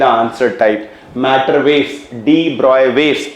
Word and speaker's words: de Broglie: बच्चे हम हिंदुस्तानी डी ब्रॉगली पढ़ते हैं. इट इज नॉट डी ब्रॉगली, इट इज डी ब्रॉय.